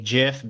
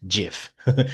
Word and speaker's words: GIF: boards, students can even include short videos or GIFs, images. And yes, I say GIF because the creator of that format, he said it's pronounced GIF.